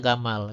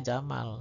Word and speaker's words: Jamal: Kemudian huruf Gnya digunakan untuk bunyi J kadang-kadang ya karena juga ada yang pakai J ya misalnya gamal itu dibacanya jamal ya. Kalau tidak paham membacanya gamal ya.